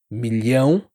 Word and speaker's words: milhão: Pense nas palavras million pro LH, milhão para acostumar com português.